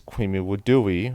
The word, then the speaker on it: Kwimi Wudui: theater, but one of the most famous is Kwimi Wudui, or Kumi Odori as it's pronounced in Japanese. Western and Japanese scholars today tend to state that Kwimi Wudui was heavily influenced by Japanese theater, particularly No,